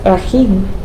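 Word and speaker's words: رحيم: Anyho, we also have Rahim. Okay, double e.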